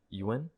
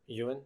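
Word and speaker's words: Yeun: Wonderful How do How do you choices. pronounce his? I don't want to mispronounce it. Ewan. Ewan? Yeah. Ewan. I think, yeah.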